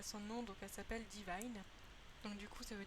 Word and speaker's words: Divine: Et du coup, déjà son nom, donc elle s'appelle Divine. Donc du coup, ça veut dire divine, mais je le prononce à l'anglaise parce que je trouve que ça fait plus joli.